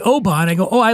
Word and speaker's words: Oban: It's not Oban. It's not Oban. It's Oban. So what I do, rather than say, you fucking idiot, you would say, oh, I like Oban.